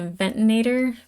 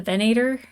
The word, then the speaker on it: Venator: Our guy's going and getting the information from, I keep saying it wrong, I want to say the Ventinator, but it's the Venator.